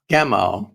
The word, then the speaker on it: Gamow: a name, and I don't know how to pronounce this last name. Is it George Gamow, Gamow? Gamow, right?